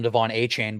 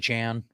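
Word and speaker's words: Achane: it's a chain oh everyone was calling him Devon a chain but it's actually aan yeah yeah okay yeah so it's uh so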